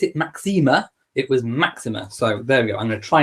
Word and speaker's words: Máxima: máxima and I do and the Queen did pronounce it Maxima it was Maxima so very I'm gonna try and say Maxima